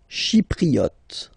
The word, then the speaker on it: chypriote: Chypriote. Remember this Y is pronounced like E.